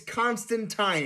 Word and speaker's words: Constantine: no no no it it's Constantine it's it's not teen that would be Palpatine no it's spelled TI NE like yours is I know your name ends in teen but his ends in tin depending on which version